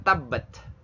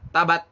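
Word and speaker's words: تبت: Nah, ini juga nggak boleh dibaca tabat, tapi tabbat. Tabbat ya. Tabbat. Ta itu hamas. Tapi nggak boleh dibaca tabbat atau tabbach. Nah, itu salah ya. Salah besar kalau hamas dianggap seperti TS atau CH.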